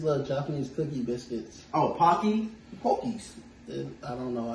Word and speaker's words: Pocky: I'm also trying it, and it just reminded me of Pokies. Like comments, it's these little Japanese cookie biscuits. Oh, Pocky?